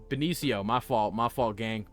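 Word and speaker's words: Benicio: Balencio Del Toro was in here. That's not how you pronounce his name. Valencio. No, it's uh Benio.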